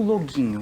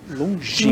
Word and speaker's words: Longinho: Carol, agora conta um pouquinho pra gente sobre a Turma do Longuinho. O que seria isso? Longinho. Longinho. Mas, Longinho. Mas a gente tem longinho, longuinho, várias pronúncias.